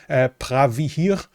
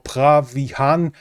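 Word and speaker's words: Preah Vihear: The center of this conflict is the temple Pravihir, according to the Khmer language, or Pravihan, that is the pronunciation in Thai.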